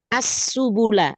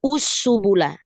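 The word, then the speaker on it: السُّبُل: mau tanya di asubula Kenapa kita bacanya asubula bukan usubula padahal huruf ketiganya domah Sal kalau Hamzah wasal bertemu lam itu pasti fathah ahanti Masyaallah karena walaupun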